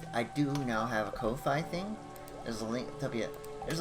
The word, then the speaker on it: Ko-fi: And yes, Ko-Fi is pronounced just like that. It rhymes with no fee, according to the...